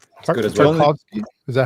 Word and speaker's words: Tarkovsky: Tarkovsky? Is that how you would pronounce that? Tarkovsky.